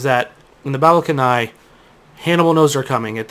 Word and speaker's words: Cannae: It's pronounced Canae.